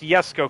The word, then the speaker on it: Jesco: Yesco is the name. Yesco, except for it's spelled Jesco. Jesco. But it's pronounced Yesco because it's Yesco is the father of Christian von Koenigsegg, which is Yesco something Koenigsegg.